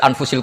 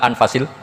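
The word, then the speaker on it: أنفَس: Di sini ditulis anfusil kutub. Kalau saya baca anfasil kutub karena maknanya kitab terbaik. Kalau kitab terbaik bacanya bukan anfus tapi apa? Anfas.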